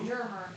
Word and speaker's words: Dermer: Dermer. Dermer. Dermer. Dermer. Like E is silent in the middle.